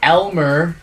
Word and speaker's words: Elmer: the hell's armor for Elmer Elmer Fudd not Elmore font it's fun that sounds like a guy who works at the Gloom Factory no but Elmer and then last name